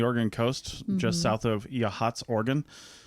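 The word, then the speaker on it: Yachats: spot on the Oregon coast just south of yahat's organ spelled yatchets if you're trying to find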